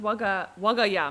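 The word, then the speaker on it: 我が家: What does waga ya mean? Waga ie sounds like this house or something? Yes. Pronounced as Wagaya, but it's Waga no ie.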